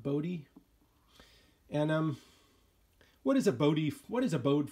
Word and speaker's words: Bode: I think that's how you pronounce it, Bode, Bode.